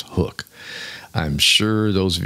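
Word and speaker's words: HUK: everybody's wearing one uh hook spelled h u k okay but pronounced hook I'm I'm sure those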